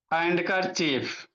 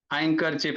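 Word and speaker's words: handkerchief: हैंडकर चीफ एंडकर चीफ बाबू हैंडकर चीफ मतलब बाबू रुमाल होता है। हैंकर चिप इसको कह सकते हैं। द साइलेंट होता है बाबू।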